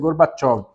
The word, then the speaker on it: Gorbachev: Gorbachev é a escrita, mas a pronúncia é Gorbachev.